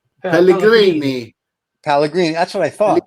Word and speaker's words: Pellegrini: How do you pronounce her last name? Pellegrini.